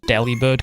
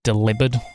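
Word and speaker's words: Delibird: People now just now realizing that deli bird can be pronounced delivered as in like delivered.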